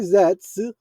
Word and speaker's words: Zeztz: Reading Common Rider Zets, okay, that's what it's pronounced, is an upcoming Japanese Tokosachu drama in toy company's Common Rider series.